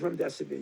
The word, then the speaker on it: remdesivir: No, it is remdesivir. You pronounced it absolutely correctly.